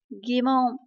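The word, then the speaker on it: 疑問: Ví dụ như là nghi vấn thì chúng ta đọc là gì? Gimon.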